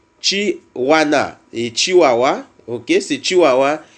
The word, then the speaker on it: Chihuahua: Et en pile moun, et en pile haïtien qu'on a prononcé que c'est Tijuana, et bien c'est pas Tijuana, on dit, c'est Chihuahua.